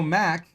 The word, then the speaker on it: Mark: You know, Mac is the way New Zealanders pronounce my name.